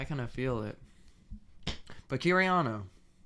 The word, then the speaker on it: Kiryano: But Kiraniano, that's how you say it, right?